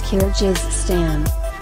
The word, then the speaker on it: Kyrgyzstan: I can't even pronounce its name. Before you ask, it's Kyrgyzstan.